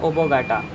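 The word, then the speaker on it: oblongata: अगला हमारा इसका पार्ट क्या है, मेडुला ऑब्लोंगेट, मेडुला ऑब्लोंगेट, ठीक, या फिर बोलते हैं ओबोगाटा, एल साइलेंट होता है, ओबोगाटा बोलते हैं।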